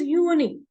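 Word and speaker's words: Juni: at January it is uni j u n i because J is pronounced as Y and not J so it is pronounced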